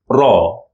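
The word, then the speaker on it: ر: equivalent sounds in English the first one Raw raw normal R7 in English well the second one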